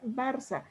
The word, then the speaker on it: Barça: Barca, y tiene una C con una como comita debajo de la C, se llama cedilla, pero se pronuncia Barça.